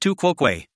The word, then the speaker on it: tu quoque: Pronounced tu quoque.